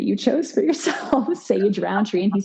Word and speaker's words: Rountree: And there's technically no D in Roundtree. It comes from Rowantree. It's an English name, but it is spelled with a U, Rountree.